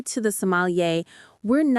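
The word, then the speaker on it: sommelier: Somalier. The stress is on the end. Somalier.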